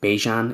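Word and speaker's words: Bijan: Bejan. It rhymes with Dejon, like mustard.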